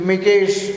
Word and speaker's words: Mikes: Okay, you can pronounce as you feel, Mikesh or George Mikesh or George Mike's as such.